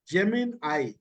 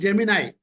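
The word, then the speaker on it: Gemini: இது வந்து கூகுள் பாட்னு பேரு, நியூ ஜெமினை. இது வந்து ஜெமினை அப்படின்றான், ஜெமினி கிடையாது, ஜெமினை அப்படின்னு ப்ரொனவுன்ஸ் பண்றான்.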